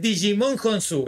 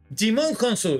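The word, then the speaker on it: Djimon Hounsou: descubrir hace un ratito que no es Digimon honsu es jimon jimon honsu no no se pronuncia la d detalle como como killian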